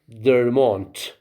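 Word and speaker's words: der Mond: now line three okay three genders masculine like dermont what does it mean the moon of course they you have to pronounce it their mon we write du and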